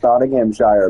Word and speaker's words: Nottinghamshire: I've noticed more times than not, I'm actually pronouncing them right. Like earlier, I kept saying Nottinghamshire because that's what it looked like, and then